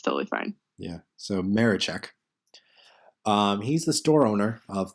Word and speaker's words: Maraczek: Maraczek. Wow, I butchered that. Pro tip, you don't pronounce the Z.